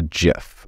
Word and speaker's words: GIF: gets done there or a gif or GIF is I think it's more accurately pronounced then you can choose